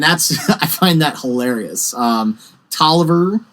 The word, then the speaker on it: Taliaferro: Tolliver, it's spelled and looks like Taliaferro. Yes, it does. Another division commander. It's apparently pronounced Tolliver, according to people in the park.